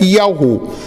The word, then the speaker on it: Yahu: Nós sabemos que o nome, a pronúncia é Yahu.